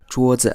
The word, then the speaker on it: 桌子: 桌子 Again here the second syllable is unstressed, so we simply say 桌子 and we don't emphasize the second syllable at all.